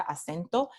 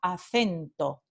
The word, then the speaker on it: acento: centro de España, entonces yo pronuncio esta palabra acento, pero en el norte y centro de España se pronuncia acento. Es la letra C cuando viene seguida de E, la vocal E, acento.